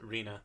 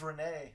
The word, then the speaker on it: Rena: Oh, is that how you pronounce it? Rena? Rena, yeah. I thought it was Renee.